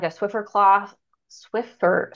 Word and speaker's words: Swiffer: a Swiffer with this like a Swiffer cloth Swiffer swifter Swift swifter you said it right Swiffer okay